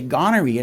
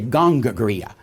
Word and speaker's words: gonorrhea: He wouldn't say gonorrhea, he'd say gongoria.